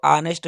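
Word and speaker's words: honest: तो ऑनेस्ट जो है इसका जो प्रोनाउंसिएशन है अ से लेकर अह तक के बीच में, इसलिए हम यहाँ पर प्रयोग करेंगे एन ऑनेस्ट man values the ऑनेस्टी।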